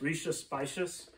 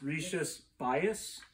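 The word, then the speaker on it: Rías Baixas: before i went there i always pronounced this as the region as rishi spicious i swear on the bus trip it's rishi's bias so whatever you guys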